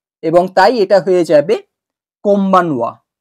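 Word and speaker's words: こんばんは: আমি উচ্চারণ করব তখন যেহেতু এন বি এর সামনে এসছে সেইজন্য এর এই এন এর প্রোনাউন্সিয়েশনটা বা উচ্চারণটা চেঞ্জ হয়ে যাবে এম এ এবং তাই এটা হয়ে যাবে কম্বানোয়া কম্বানোয়া আর কম্বানোয়া মানে তো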